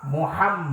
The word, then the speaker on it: মোহাম্মদ: কি করে কিন্তু শোনেন আমার নবীর নাম মোহাম্মদ মান দুটো মিম উচ্চারণ করতে হবে। দুটো ম উচ্চারণ করতে হয়।